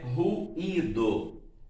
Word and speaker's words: ruído: O primeiro é ruído. Se eu for separar em sílabas, como vai ficar? Ru, i, do.